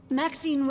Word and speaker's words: Maxine: Maxine rhymes with queen.